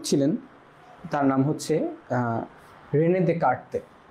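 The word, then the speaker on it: Descartes: ঠিক আছে, এটার যিনি জনক ছিলেন তার নাম হচ্ছে রেনে দেকার্তে। রেনে দেকার্তেস পড়তে পারো, কিন্তু এটা আসলে এরকম না, ফ্রেঞ্চ নাম তো, ফ্রেঞ্চ নামে বানানো, এনার এই এসগুলো উচ্চারণ হতো না।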